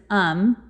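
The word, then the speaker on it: Aum: caused by the cult it's spelled Au M but the way you pronounce it is um that I will be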